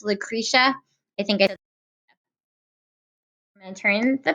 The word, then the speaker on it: Lucretia: about women's rights and yesterday I said a name wrong and I just want to apologize it's Lucretia I think I turned the page because we